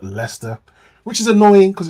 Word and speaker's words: Leicester: a a city called Leicester which is annoying because it's one of those UK cities that is pronounced completely differently t um and it's